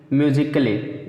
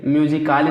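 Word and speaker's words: musically: जैसे एग्जाम्पल देखिए, म्यूजिकली, म्यूजिकाली नहीं कहें, म्यूजिकली का बहुत देर से बोलेंगे, यानी कि ए से आ नहीं बोलेंगे, म्यूजिकली।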